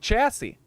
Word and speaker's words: chassis: One of the few words that has an SSIS at the end of it and is pronounced like chassis.